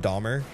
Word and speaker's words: Dahmer: her actually kept me I didn't know it was pronounced Dahmer and then and then I think it was my mom in chat actually told me how to say it right and I was